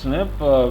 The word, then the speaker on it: SNP: it is just like snp is pronounced snip right yes sorry yes so let me close this mistake it open so just like snp is pronounced snip we pronounce uh fast